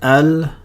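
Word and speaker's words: القمر: We know how to pronounce the Hamza because of rule number 1. The lam has a sukoon on it. Everything's straightforward. If you pronounce it like you would normally pronounce it before today's lesson, you would say it perfectly right.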